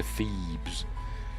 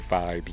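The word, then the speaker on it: Phibes: Feebs. And I pronounced it like that forever. Even though in the film they say Fibs, don't.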